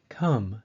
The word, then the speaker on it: come: are non-standard number three the O in come say sounds like the a in idea the second e in enemy and the U in but like the non-standard A